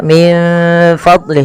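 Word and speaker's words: من فضله: kemudian Fadli di sini ada nun mati bertemu Fa sebagaimana anfusahum ya sebagaimana anfusahum yaitu bagaimana kita membacanya kita membacanya menyamarkan nunnya kepada huruf Fa menyamarkan huruf nun kepada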